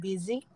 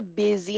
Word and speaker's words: busy: mahiya diyan sa sa busy na yan ha It's pronounced as Busy yung y is like a double e busy busy so Hwag